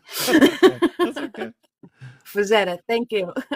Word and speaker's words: Frazetta: I can never Frank say his name Frazetta. correctly. That's okay. That's okay. Fazetta, thank you. I keep putting R's in there for some reason. Frank And extra Z's. I don't know why. Frazetta.